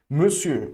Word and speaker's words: monsieur: Monsieur, ok? Se escreve com mon, mas se pronuncia me, fechado.